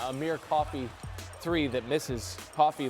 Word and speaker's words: Coffey: Coffey like the drink just not spelled the same.